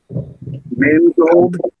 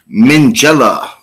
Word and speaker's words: Minghella: Mangold. It's not it. Okay. Unfortunately. No, yeah, not Mangold. It is Anthony Minghella.